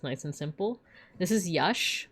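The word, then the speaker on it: Yax: This is yash.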